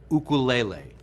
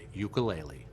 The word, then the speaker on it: ukulele: To appreciate the history and cultural roots of this beautiful instrument, let's first clarify that the Hawaiian pronunciation is ukulele. Many people now pronounce it ukulele.